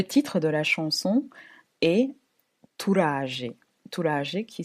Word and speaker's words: Turaje: Le titre de la chanson est Turaje. Turaje qui s'écrit T-U-R-A-J-E.